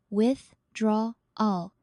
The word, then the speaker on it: withdrawal: Break longer words into syllables. With, draw, all. Practice slowly at first and focus on the main stress, withdrawal.